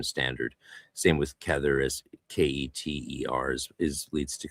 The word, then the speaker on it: Keter: Same with Kether, as Keter leads to, because it's pronounced Keter.